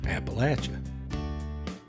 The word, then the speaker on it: Appalachia: pretty good sunsets there in cana that's in appalachia it's pronounced appalachia so i'm going to take just about 30